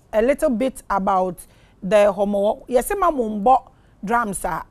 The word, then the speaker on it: Homowo: Is the name I'm pronouncing correct? HOMOWO. Uh-huh. Yes, it's the word.